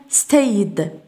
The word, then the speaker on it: stayed: وي هاف ستايد ستايد نقول ستايد.